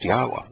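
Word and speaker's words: Yahweh: you find is that a yod he wah he it' be pronounced yahwa there's just there's no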